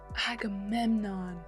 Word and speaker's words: Agamemnon: I think it's pronounced Agamenon. Like I'm gaming on your butt. Agamemnon.